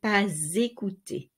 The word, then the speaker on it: pas: Now, here the silent S of pas is not silent anymore because it is linked to a vowel. So you say pas écouter.